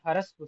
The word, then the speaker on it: ह्रस्व: ह रस्व ऐसे नहीं पढ़ना, हकार का उच्चारण पूरा नहीं है, क्यों इसका वर्ण विच्छेद करा जाए तो ऐसे पढ़ा जाएगा, क्योंकि सकार भी पूरा नहीं है, बस वकार आगे का पूरा है, तो इसको ऐसे पढ़ेंगे।